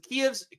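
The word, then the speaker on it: Kyiv: the Vatican to uh kev's kev's Kev that's the Russian pronunciation k i kev's ambassador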